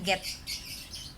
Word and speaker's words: geht: Wie geht, H-nya nggak dibaca jadi get.